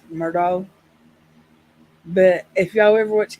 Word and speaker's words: Murdaugh: that's something too um I would say his name Alex Murdo but if y'all ever